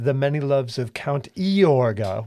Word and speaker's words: Yorga: Many Loves of count iorga with an eye which they still kind of pronounce his name with a little bit of an Eeyore sound now it's pronounced yeah